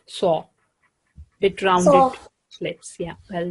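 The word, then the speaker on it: ص: So its name is Sod, and when it has fatha, we say it Saw.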